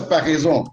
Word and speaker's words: Paraison: Bueno, el nombre es Parisón en francés, y Paraíso.